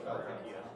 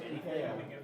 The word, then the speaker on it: IKEA: Yeah, I want to see bad enough not saying IKEA.